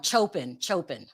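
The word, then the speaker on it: Coppin: Chopin.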